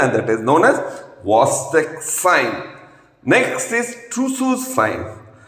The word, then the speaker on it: Chvostek: Friends, it is not Chvostek, it is CH is silent, it is Chvostek sign.